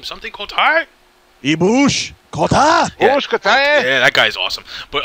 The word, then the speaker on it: Kota Ibushi: Ibushi Kota. Yeah, that guy's awesome. But Kota Ibushi.